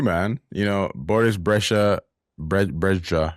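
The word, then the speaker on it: Brejcha: Brea, that's how you say it.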